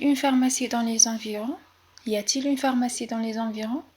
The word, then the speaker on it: y a-t-il: Y a-t-il une pharmacie dans les environs? Y a-t-il une pharmacie dans les environs?